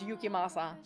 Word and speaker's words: Yukimasa: No, that's not how you pronounce his name. Oh, I know where this is gonna go. He's gonna say eucalyptus. And Morgana is gonna be like, was I the only one listening? It's Yukimasa. She's the only one who